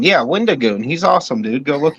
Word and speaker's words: Wendigoon: Was you were saying Wendy Goon? Yeah, Wendigoon. He's awesome, dude. Go look him up. Wendigoon rolls. Well, it's pronounced Wendy Goon.